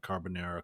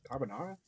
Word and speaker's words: carbonara: you guys probably aren't carbonera connoisseurs are you anybody don't say it like that that's kind of an interesting way to well go ahead and tell me how you say it carbonara I like you know